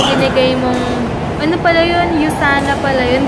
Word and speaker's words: USANA: So thank you ulit sis Nica doun sa binigay mong ano pala 'yun Yusana pala 'yun. Hindi siya usana. Yana ako. Yusana pala yung pag-pronounce niya.